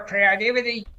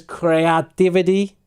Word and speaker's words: creativity: When you get to tap into your creativity. He says creativity, and the pronunciation should be creative, creativity.